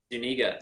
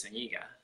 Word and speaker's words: Zuniga: Zuniga. Zuniga. Dang. Or if you want to be daring, you can pronounce it the Spanish way, which is Zuniga.